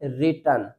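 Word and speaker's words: written: अगर कोई वर्ड अगर स्टार्ट होता है डब्ल्यू आर से तो उन वर्ड्स में डब्ल्यू लेटर साइलेंट रहेगा।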